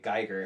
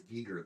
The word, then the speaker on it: Giger: Geiger. Oh, H.I. Geiger, yeah. It's like Geiger, Escher, and... I heard it was Giger the other day.